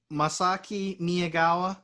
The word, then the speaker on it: Masaki Miyagawa: Masaki Miyagawa.